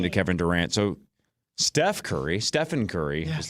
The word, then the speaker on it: Stephen: In Nike's presentation, they famously called him Stefan and had a leftover slide from a Kevin Durant presentation. So Nike botched it. They couldn't they didn't even say his name right and they clearly had